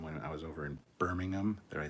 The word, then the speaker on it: Birmingham: to meet them when i was over in birmingham that i said it right birmingham it's birmingham anyway um good guys and definitely good people